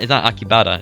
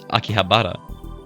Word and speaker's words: Akihabara: you know i realized i was pronouncing akibara wrong this entire time it's not akibata it's akihabara there's an h in there completely skip pronouncing there they were to meet mintado